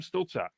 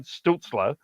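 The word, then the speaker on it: Stützle: week uh and Tim stilta we we've talked about that and I as I missed I mispronounce it it's Tim stutzler uh signed today with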